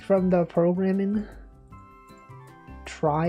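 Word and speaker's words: trie: Try, it's actually pronounced try.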